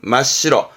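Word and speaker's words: 真っ白: 발음은 마시로, 마시로, 마시로다.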